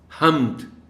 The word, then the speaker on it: حمد: ادائی درست رہ سکے۔ حمد، اب میم پر جزم ہے۔ اس لفظ کا تلفظ